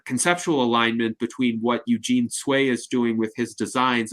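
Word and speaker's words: Tsui: Now Dan, you mentioned ecology and I'm reminded by your comments of the work of an architect named Eugene Sway. His last name is spelled T SSUI.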